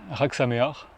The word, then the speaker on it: Hag Sameah: Alors ça me faisait rire plusieurs parce que c'est assez dur à prononcer quand on ne connaît pas l'hébreu. Donc en fait, c'est très simple. Comme mémo technique, c'est comme s'il y avait un R au début et un R à la fin.